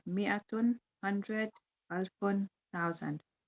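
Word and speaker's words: مائة: Number 5, mi'atun, 100, alfun, 1,000. Note that in mi'atun, the alif is not pronounced. It is pronounced mi'atun.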